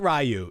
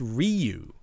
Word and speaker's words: Ryu: Not Rayu. It's Ryu. Ryu. Reuse. It's like recycle. Reuse. Reuse. Just leave the S and the E off. Ryu.